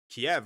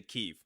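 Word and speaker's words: Kyiv: hit a building in like Kiev or something like that. Or I should say Kev. That's the more correctness uh correct way to say it.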